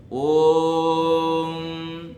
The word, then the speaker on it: ओम: गया प्लुत हो गया ऐसे ही ओम का जो उच्चारण है उसमें ओ जो है वो प्लुत है ओम तो इसलिए वहां पर प्लुत है इसलिए तीन का अंक